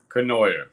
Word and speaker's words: Cournoyer: Kenoyer.